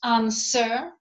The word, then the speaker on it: answer: persuade as wage sweep the letter w is not pronounced in two answer pay attention because it's a quite uh commonly encountered mistake again sharing my experience so it's answer uh sword who hero